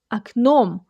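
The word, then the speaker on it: окном: So in the word aknom aknom, the first o sounds like ah because the stress falls on the second syllable, so you say aknom.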